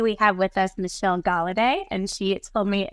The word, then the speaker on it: Golladay: And today we have with us Michelle Gal. And she told me it's like holiday but with a G.